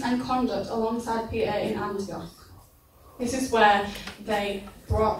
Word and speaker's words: Antioch: He modelled Christ with his words and his actions and his conduct alongside Peter in, I can't pronounce this very well, Antioch. Can you say it better? Antioch.